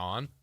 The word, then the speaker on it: Jason: Jason. Yeah, it's S O N. Jason Json son. Son. Jason J son. Like you're my son.